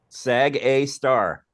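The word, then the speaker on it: Sgr A*: call the black hole sag a star yeah they consider black holes a star no no no no that's just the notation it's an asterisk and you pronounce it star sag a star right is it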